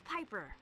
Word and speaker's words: Piper: The name is Piper. Rhymes with Viper as in Isn't that a fender line from the No, from the movie.